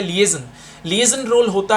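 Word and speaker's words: liaison: लिएजन एक ये इसकी करेक्ट प्रोनाउंसिएशन कहलाती है लिएजन।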